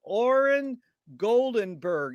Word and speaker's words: Oren Goldenberg: honor and a pleasure to be here with oren goldenberg is that the correct way to pronounce it nailed it and oren where you